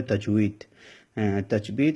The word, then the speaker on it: তাজবিদ: লেখা আছে বাংলাতে সেটা সহি শুদ্ধ আরবি উচ্চারণ হবে তাজবিদ তাজবিদ এবং লাহনের বিবরণ কোরআন